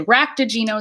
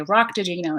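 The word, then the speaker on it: raktajino: Some say Ractigino, some say Roctigino, and this is a type of Cardassian coffee, I believe.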